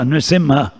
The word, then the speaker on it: Narasimha: are nine temples of Narasimha narsimha it's pronounced differently in Indian different places Bengal they say mashenka dev mashenka dev rain and in South Indian say Narasimha man lion and in North Indian Nursing not sing the A's are gone